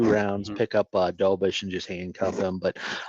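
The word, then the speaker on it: Dobeš: And if you're going to do that too, look at his backup, Dobish. I think that's how you say it, Jacob Mhm. Dobish.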